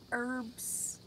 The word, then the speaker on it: herbs: Herbs. There is no H. Herbs.